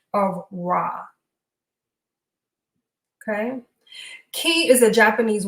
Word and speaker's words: Ra: the Asian pronunciation of the word r they pronounce it as Ray okay it's a common mispronunciation of raw okay ke is a Japanese word for internal